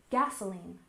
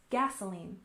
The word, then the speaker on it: gasoline: We stress the first syllable, gasoline, gasoline.